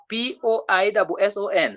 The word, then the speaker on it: poisson: When letter S appears between two vowels, a single S appears between two vowels, the sound becomes what? Z. You get that? So we say poison. The third one is poison, but the one which comes before is poisson.